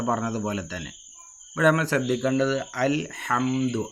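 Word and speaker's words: الْحَمْدُ: തന്നെ ഇവിടെ നമ്മൾ ശ്രദ്ധിക്കേണ്ടത് അൽ ഹംദു അൽ എന്ന് കഴിഞ്ഞിട്ട് ഹാ എന്നുണ്ട് നമ്മൾ പെട്ടെന്ന് നമ്മൾ ഖുർആൻ ഓതുന്ന സമയത്ത് അൽഹംദുലില്ലാഹി എന്ന് പറയുമ്പോൾ ഈ ഹാ ന്റെ ഉച്ചാരണം അവിടെ വരില്ല അൽഹംദു എന്നുള്ളിടത്ത് എവിടെ നമ്മൾ ഖുർആൻ ഓതുകയാണെങ്കിലും ഫാത്തിഹ ഓതുന്ന സമയത്ത് അൽ ഹാ അൽ ഹാ എന്നുള്ള ഉച്ചാരണം കൃത്യമായിട്ട് നമ്മൾ ശ്രദ്ധിക്കണം അതുപോലെതന്നെ റബ്ബിൽ ആലമീൻ റബ്ബിൽ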